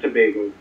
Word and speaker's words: Tobago: Is that Tobago? How do you say it? Trinidad and Tobago.